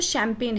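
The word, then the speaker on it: champagne: सो यहाँ पे जो शैम्पेन है डियर लर्नर्स, उसमें जो जी होता है ना, जी वो साइलेंट होता है, राइट।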